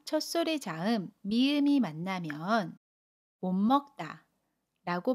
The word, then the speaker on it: 못 먹다: 모세 받침 시오 꽈 첫소리 자음 미니 만나면 몸 먹다 라고 발음 해요 같이 임씨 옷은 미리 은으로 첫소리